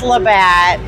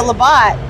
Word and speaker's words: Labatt: It's Labatt. You were right. Oh my gosh. You got some Canadian correction on that one, let me tell you. One lady's like, my husband just had a heart attack when you called it Labatt.